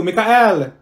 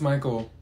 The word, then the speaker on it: Michael: Mikael. Ma'am, it's Michael.